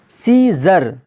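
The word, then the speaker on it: scissors: पर साइलेंट हो जाएगा सीजर एस के बाद सी है और सी के बाद देखिए आई आया है तो यहां पर क्या हो जाएगा सी साइलेंट होकर क्या हो जाएगा सीजर जिसका माना होता है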